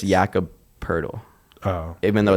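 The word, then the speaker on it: Poeltl: look like purdle well it's because it's yakub pertl oh even though it's spelled like poetal yeah i was gonna say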